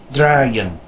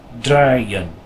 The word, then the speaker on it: draaien: So this word is pronounced draaien, draaien.